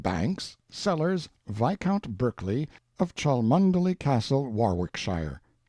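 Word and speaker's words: Cholmondeley: sellers vicount Berkeley of chundy Castle Warwickshire pronounced cbri Slover Marshbank sellers vicount Barkley of chumbley Castle warshire he is standing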